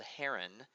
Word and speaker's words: Heron: looks like it's spelled Heron or pronounced Heron but is his name is pronounced hero heroes formula is the